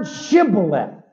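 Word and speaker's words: shibboleth: to pronounce the word shibolet the Hebrew word for River but in the dialect of Ephraim from the West they could not pronounce the sh sound of shth it kept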